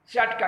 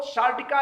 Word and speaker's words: सियाटिका: अब आइए सामान्य बात के बाद हम बात करते हैं सियाटिका की। दरअसल सियाटिका को लोग सार्टिका या साटिका अनेक नाम देते हैं, जबकि उसकी स्पेलिंग है SCIA। तो सियाटिका है ये, सियाटिका की शुरुआत